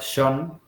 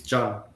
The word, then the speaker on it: John: It's like it's not Sean. It's John. Exactly. Yes. Yes. Yeah. Because then Sean is a totally different name. Like we have Sean and we have John in Yeah.